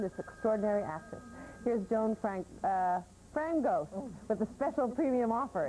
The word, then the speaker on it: Frangos: If you would like to learn more about this extraordinary woman, this extraordinary actress, here's Joan Frangos with a special premium offer. It rhymes with mangoes.